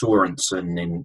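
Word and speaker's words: Sørensen: I mean, it's similar with Sorensen, isn't it? It's got the accent on the O, so I guess that's Sorensen in Danish terms.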